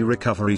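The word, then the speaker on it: Recuva: As its tagline says, recover your deleted files quickly and easily. I will now tell you about its feature with the installation and demo. Do watch carefully. Recuver, pronounced Recover, is a freeware Windows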